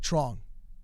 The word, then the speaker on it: Trong: And when I asked him his name, he says, yeah, it's like Trong, like strong.